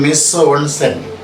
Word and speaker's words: mise en scène: So, how is the pronunciation? Mise en scène.